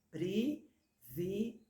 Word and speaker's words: privilégio: encontrei é a dificuldade a primeira fila privilégio é com i nunca com é privilegiamos privilegiei privilegiaram e